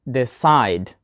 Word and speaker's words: decide: Sigh, right? Decide, not decide and not decide.